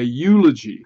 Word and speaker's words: eulogy: We say a eulogy for the same reason, because it seems to be pronounced with a Y sound, a consonant sound at the beginning of the word.